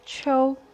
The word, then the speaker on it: 秋: Pronounced as Cho.